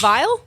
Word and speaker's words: Viall: what it is dude it's vile it's vile vile I feel like that's not that hard to pronounce yeah but it is so you have because you have to like pause after the AI VR not the best